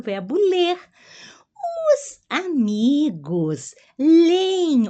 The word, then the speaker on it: leem: Os amigos leem, ó, a pronúncia aqui de duas E. A primeira eu repito, né? Leem, e depois eu coloco uma IN.